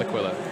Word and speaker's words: Aquila: It's an Aquila. You mean Aquila? It's pronounced Aquila.